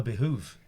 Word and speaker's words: behove: Americans say behoove all the fucking time, don't they? I thought it was behove. No, behoove. I don't say behoove. Well, then you don't say it right, but they say behoove all the time. Why? They just do Why are they it.